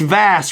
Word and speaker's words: Vas: why we're here tonight but man okay its vast right how do you say your name VA